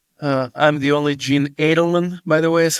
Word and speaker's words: Eidelman: me on LinkedIn uh I'm the only Jee Adelman by the way is how it's pronounced but Adelman okay but uh connect with